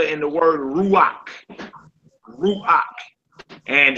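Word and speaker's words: רוח: Ruach. And it's up to you. Some people like to sound fancy and they roll their Rs. They like Ruach.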